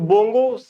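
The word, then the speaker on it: বঙ্গ: तो बोंगो अगर आप उच्चारण से पकड़ लेंगे तो बोंगो मतलब बंगाली लोग ऐसे बोलते हैं, तो ये भारत और बांग्लादेश के बीच हुआ है।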